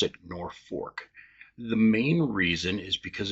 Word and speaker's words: Norfolk: Now, people outside of the state will pronounce it Norfolk because of like Norfolk, Virginia. It's spelled just the same way. But in Nebraska and mainly central to northeast Nebraska, we pronounce it Norfolk.